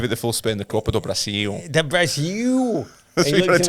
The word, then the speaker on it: Copa do Brasil: The Copa do Brasil.